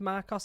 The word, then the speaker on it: MARCOS: to Marcos Commandos um I think it's pronounced Marcos it's m a r c oos this is uh the